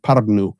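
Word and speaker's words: Pärnu: down to towns like paru p a r n u paru it's how it's pronounced it's just a beautiful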